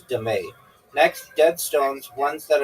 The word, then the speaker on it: dame: known as dame pronounced dame. Okay, also known as dé.